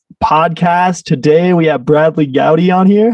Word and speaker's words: Goudie: the outlook industries podcast today we have bradley gowdy on here how you doing brad hey man i'm appreciating the proper pronunciation of the surname i had to make